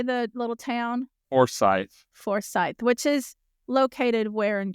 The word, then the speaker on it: Forsyth: Forsyth, which is located where in Georgia?